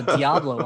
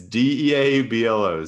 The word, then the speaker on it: Diablo: I mean, I would almost get his jersey just for the Diablo on the back. It's Deablo. So I assume that's how it's pronounced.